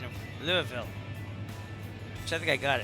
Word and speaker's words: Louisville: How do they pronounce Louisville? Is it They like like like slurred all together.